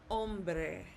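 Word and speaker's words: hombre: Or if you have the the word for man, ombre. Ombre. Okay. Let's look at another letter. What about the letter J? The letter J sounds like an H. Okay. The H is silent.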